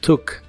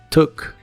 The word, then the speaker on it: took: el pasado es tu la doble o se pronuncia como una u corta y explosiva took took y lo usas en